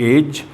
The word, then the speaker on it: edge: डी जो है वो जी से पहले हमेशा साइलेंट माना जाता है। जैसे EDGE एज और प्लेज और जज में यहाँ GE से पहले डी लिखा हुआ है, ये डी जो लिखा हुआ है ये हमारा साइलेंट हो जाता है, इसे बोला नहीं जाता।